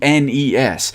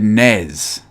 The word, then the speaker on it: NES: it is not the NES it is not the Ness it is in fact the nez Super Nintendo is not